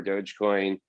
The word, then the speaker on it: Dogecoin: I mean, this dog coin or Dodge coin, however you pronounce it. Dogecoin.